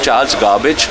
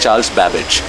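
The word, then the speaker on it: Charles Babbage: current people similarly Charles babage how many people pronounce his name correctly right correctly right now it's Charles garbage or Charles gabage it's Charles babage half the people don't remember Blaze Pascal who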